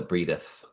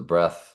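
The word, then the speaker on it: breadth: I like to call it the breatheth, but it's pronounced the breath of the earth, and encompassed the camp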